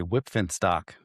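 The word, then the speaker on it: Wipf and Stock: Recently published by, and I can never pronounce this publisher's name, Whipfenstock. Whipfenstock? Yeah, with a little F at the end of that P. Whipfenstock.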